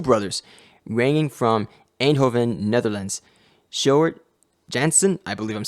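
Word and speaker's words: Sjoerd Janssen: It's actually pronounced Shard Jansen. And with some of these Dutch names, they are a little bit tricky to pronounce.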